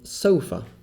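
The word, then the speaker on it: سوف: the future so far here we see that the wow is not extending a damma sound but rather coming after a fatah we get the sound so here the wow is behaving like a consonant and not behaving like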